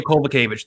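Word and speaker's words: Kowalkiewicz: none other than jessica penney going against carolina kawakovich um carolina colway how do you say it i've had it all week and i finally can't get it karolina kobachevich there it is okay so um but basically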